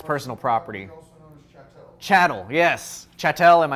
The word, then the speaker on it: chattel: personal property chattel yes chattel and I've always pronounced it wrong I've always said Channel so you need to